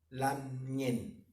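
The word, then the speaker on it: lamngen: Lo importante que pronunciar bien la palabra mapudungun por decir lam ñen, ¿ya? Bien pronunciado. Igual cuando decimos Mari Nahuel, Mari ñaña, ¿cierto?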